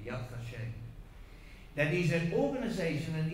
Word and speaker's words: Yad Vashem: Yeah, it's called the Yad Vashem. Vashem. That's really the proper pronunciation. The Yad Vashem.